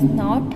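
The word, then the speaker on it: know: A silent letter is a letter that is not heard when the word is pronounced, but it is included while writing.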